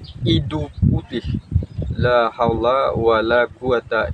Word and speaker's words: idhu: illa billahil aliilim Nah kalau misalkan sahabat terdengarnya Ido ataupun apa ya jadi sebut saja idu d h u jadi bacanya idu putih seperti itu bacaannya ataupun kalimat dari